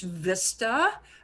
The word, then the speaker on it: vista: state of Arizona because we have the word in English vista, but of course in Spanish it's pronounced vista, and it means view.